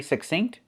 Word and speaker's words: succinct: When you see INC, we pronounce it just like when you see INK.